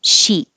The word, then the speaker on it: chic: 14 is also from French, so the CH sounds like SH, sh, and the vowel is E, she. And it does have a K sound at the end, but we just put the tongue in the K position and don't release it unless the next word begins with a vowel.